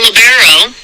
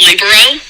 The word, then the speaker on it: libero: over the years so a labero is you also hear it pronounced libero I'm not sure there's really a right way or wrong way to say it I think they're pretty much interchangeable so is a back